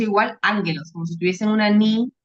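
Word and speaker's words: ἄγγελος: Como si tuviese una ni antes de la segunda gama, pero no es así, es que se pronuncia así.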